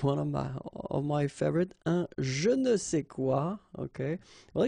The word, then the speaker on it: je ne sais quoi: And then phonetically, of course, it's the same pronunciation. Okay. Un je ne sais quoi.